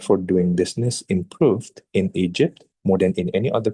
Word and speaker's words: Egypt: Kalau teman-teman hanya pronounce dengan kata Egypt tanpa ada suara teh di belakangnya, like Egypt, itu akan sangat buruk ya untuk nilai. Jadi bagusnya kita harus baca semua Egypt, ya.